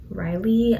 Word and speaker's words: Ryle: lily and ryo or riley i'm not sure how you pronounce it but i pronounced it rile because it's spelled like kyle but with the bars so ryle and lily they are